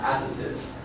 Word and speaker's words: additives: Here the stress on the first syllable is about additives.